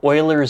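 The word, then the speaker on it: Euler: a phenomenal book I would recommend it's called Oiler Gem and Oiler is spelled e l r because the Dude is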